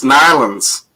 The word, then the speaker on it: New Orleans: yeah darling perfect perfect people say New Orleans that's how it's sad when you're from there it's nylons yep it's darling just